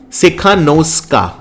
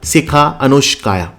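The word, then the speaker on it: Tsikhanouskaya: Her name is Svetlana Sikhanouskaya. Okay, T is silent. Svetlana Sikhanouskaya.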